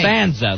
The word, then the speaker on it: Costanzo: Costanzo, that's how you say it.